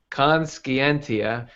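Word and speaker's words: conscientia: actually conenza is is am I pronouncing that right conenza consentia consentia so I was way off consentia I'm GNA name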